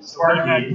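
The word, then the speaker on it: Sparqee: Sparky. Previously we had It's spelled S-P-A-R-Q-E-E. Oh, look, it's actually written there on the robot. Sorry, Sparky versus 4.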